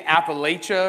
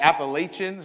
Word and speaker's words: Appalachia: they come from Appalachia because I say it right right didn't say appal AA or the Appalachians right it's Appalachia my family comes specifically